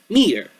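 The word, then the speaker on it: Metor: I always thought it was Meteor Zane, but no, it's Meteor Zane. Just meter. A meteor, meter. M-E-T-O-R. That's how you spell it.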